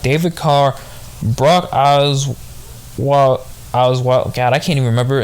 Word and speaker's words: Osweiler: Deshaun Watson, Kyle Murray, Osweiler.